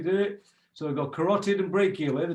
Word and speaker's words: carotid: know i don't want to confuse people so car rot it car rot id side of the neck okay next one brachial